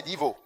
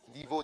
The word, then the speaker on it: Divo: Le prochain, c'est Divo. Divo, D-I-V-O.